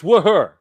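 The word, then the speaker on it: Wuher: It's Wooher.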